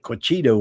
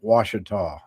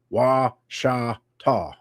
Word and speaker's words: Ouachita: And I called it Cushita when I first moved here. Everybody does that, but it's a Indian name. Pronounced Ouachita. Wa-sha-ta.